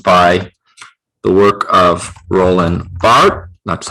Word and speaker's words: Barthes: Stuart Hall was influenced by the work of Roland Barthes, that's how you pronounce it, as well as Ferdinand de Saussure.